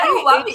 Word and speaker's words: Huawei: Have I pronouncing it correctly? yeah, Huawei, yeah.